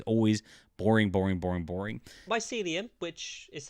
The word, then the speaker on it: mycelium: Mycelium, which is how it's pronounced, or Mycelium, isn't very known unless you play Minecraft.